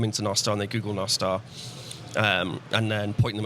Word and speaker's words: Nostr: bits and also one of the co-founders of no star that's the way you pronounce it and he came up with the